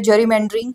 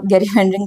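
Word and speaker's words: gerrymandering: okay, ऐसा ही मिलता जुलता है जेरीमेंडरिंग या गेरीमेंडरिंग, जैसे इसको प्रोनाउंस करते हो वैसे जेरीमेंडरिंग होता है ये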